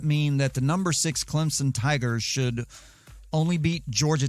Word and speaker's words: Clemson: is my home state there is no z in clemson it's someone's name and